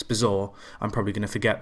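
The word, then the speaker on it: Bazoer: this guy's name cuz it's not bazo it's bizar I'm probably going to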